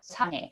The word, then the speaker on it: 사랑해: And I think 랑, the middle one, is a very hard pronunciation for a lot of foreign people. It's kind of between L and R. We don't really have L's or R's, but it's somewhere in between.